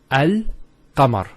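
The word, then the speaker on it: القمر: It's Al-Qamar. So Al-Qamar. So there's a Sukun there on top of the Lam.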